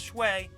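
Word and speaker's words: 水: In Chinese though, it's pronounced shui instead of mizu, unless that's the kanji for ice.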